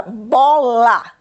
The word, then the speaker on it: bola: A seguir, temos a palavra bola. Qual é a sílaba lida com maior intensidade, meninos? Vamos contar, última, penúltima. É a penúltima sílaba que se lê com maior intensidade. Por isso é uma palavra grave.